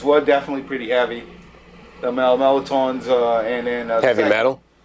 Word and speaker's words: Melatauns: yeah so we do we did it the way New Orleans people say it and the Louisiana people say it it's melatons phonetically speaking yes and uh and